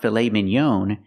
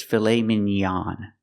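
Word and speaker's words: filet mignon: pronounce it filet Minon it's not filet Minon it's filet minan we use the a sound the open a a like hot and stop filet minan filet minan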